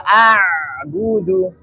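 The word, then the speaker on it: أعبد: Ya, ini yang membedakan antara huruf ain dengan huruf hamzah. Ya. Contohnya di ayat la a'budu. Ada bainiyah, ada aliran suaranya.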